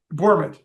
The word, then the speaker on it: Bourmet: I'm giving that the correct pronunciation, right? It's Bourmet, actually. Bourmet.